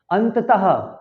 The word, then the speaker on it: अतः: जब हम बोलेंगे, जब हम उच्चारण करेंगे तो लास्ट में हा निकलना चाहिए, अतः। स्वतः। क्या होगा? स्वतः। इसको स्वतः नहीं बोलेंगे, इसको अतः नहीं बोलेंगे, अतः।